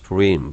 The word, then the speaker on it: Purim: Therefore they called these days Purim. 푸림이라고 불렀어요. 우리나라는 부림이라고 하지만 히브리어 페 같은 거는 피가 맞죠. 푸림이 푸르라고 발음하는 게 더 맞아요.